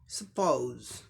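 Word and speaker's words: suppose: अब इसी का अमेरिकन में क्या होगा, सब सेम रहेगा, सिर्फ ओ की जगह ओ उ साउंड आ जाएगा। सपोज, सपोज, सपोज, सपोज, ओ साउंड आएगा अमेरिकन इंग्लिश प्रोनाउंसिएशन में।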